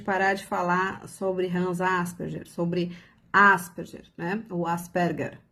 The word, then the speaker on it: Asperger: Se você colocar no Google como se pronuncia Asperger, ele vai falar Asperger, porque é o nome austríaco, né?